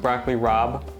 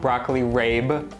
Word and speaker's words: broccoli rabe: This is definitely pronounced broccoli rob, not broccoli rabe.